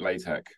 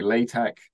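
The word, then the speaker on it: LaTeX: has many different spellings like latch I'm pronouncing it with the the soft sort of sound at the end um when you write it it's l a t x um it's just that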